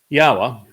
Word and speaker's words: Yahowah: Yahowah, which is the proper pronunciation of Yod He Wah He, he is our Elohah. The O sound from Elohah, God, is provided by the Wah, and it is concluded by the Ah sound in Yahowah's name.